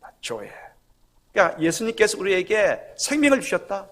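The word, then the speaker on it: ζωή: 헬라어 생명의 발음이 어떻게 되느냐? 조에.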